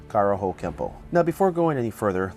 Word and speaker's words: Kenpo: this would mean that Kempo is technically spelled with an N but should be pronounced with an M through romanization it is